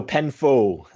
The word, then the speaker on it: Penfo: Like the roofing company, Penfold? No, Penfo. Oh, Phonetic Penfo. Okay. F-O, faux sound.